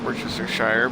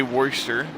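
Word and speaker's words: Worcestershire: you ask is Worchester if you ask certain people somebody who doesn't know what they're saying we'll pronounce it Worchester Shire but it's uh and some some also say warer depending who you ask thank you for the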